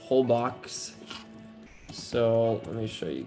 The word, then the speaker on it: Holbox: Yeah, just kind of warm up for a second, but I took a trip to a beautiful island called Holbox, but it's spelled Holbox.